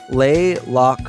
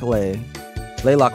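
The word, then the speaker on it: Le Locle: my room and get my stuff together it's pronounced uh lay Locale wait lay Locke lay lock lay lock lay lock layer thank you I'll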